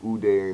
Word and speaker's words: Uday: Remember with Uday and Qusay, if I'm pronouncing their names correctly, That's correct.